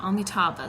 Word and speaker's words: Amitabha: mantra um omita omniteva omitaba yeah omitaba that's how you say his name omitab is the buddha